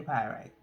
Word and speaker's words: pyrite: personal workstation okay so pyrite which is spelled p-y-r-i-t-e okay pyrite which is pyrite